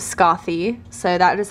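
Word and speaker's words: Skaði: I was in Iceland I actually asked a local how to pronounce her name and they said it was Scotty so that is how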